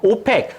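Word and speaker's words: OPEC: 지역에 있는 국가들이 뭉쳐서 오팩 석유 수출국 기구라고 하는 국제기구를 만들었습니다 자 오팩이라고 읽습니다 석유 수출국기고 1960년대 이후에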